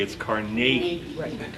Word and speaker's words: Carnegie: New Yorker so smiley we call him Carnegie yeah you go to his burger Scotland they pronounce it correctly it's Carnegie but he's a fascinating